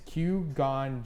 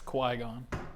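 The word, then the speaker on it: Qui-Gon: five what color is Q gon Jin's lightsaber I defin butchered that too it's Quon it's Quon Quon Jin Liam n green it's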